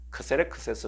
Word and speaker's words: 크세르크세스: 히브리 10 발언이 고 크세르크세스 는 고대의 그리스 식 발음인 거죠 아 이 아수 회로가